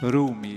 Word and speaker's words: rumi: en este caso y la pronunciación sería groomi rumi usted lo ha dicho muy bien muchas gracias Me encanta